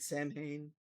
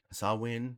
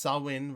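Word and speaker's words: Samhain: be old school celebrate Sam Hayne sawin ma s that's pronounced sawin regardless of how it's spelled eat my ass no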